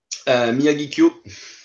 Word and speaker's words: Miyagikyo: Miyagikyo. So it's between O and U, if you want, at the end. It used to be written with O-U at the end, actually, Miyagikyo.